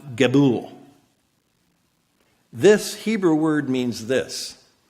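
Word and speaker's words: גבול: It's pronounced Gebul.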